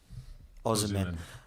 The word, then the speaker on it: Osimhen: Osimhen. There we go. Osimhen, who is apparently playing very, very well at the moment and is a player that's on form.